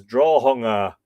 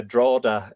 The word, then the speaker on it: Drogheda: Pretty darn good, except for the dude that pronounced Drogheda as Drawhunga. Happy birthday to all. Let's rock. Yeah, Drogheda is how a lot of people say it locally.